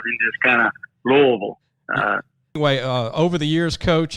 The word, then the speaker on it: Louisville: I used to say Louisville, but it's Louisville, right, Coach? That's exactly right. The affectionate way is Louisville. So it's like you got some crawfish in your mouth and just kind of Louisville.